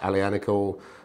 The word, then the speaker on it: Aglianico: an alley a nickel which is spelt ugly a Nicole I think pronounced a Liana call apologies to our Italian